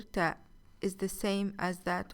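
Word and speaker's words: tāʾ: Ta is the third letter in the Arabic alphabet. It is pronounced like the first T in the word teeth.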